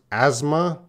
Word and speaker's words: asthma: And the S makes a Z sound. So the S is not silent. The TH is silent. And we're going to pronounce that. Well, it could be pronounced as asthma or asthma.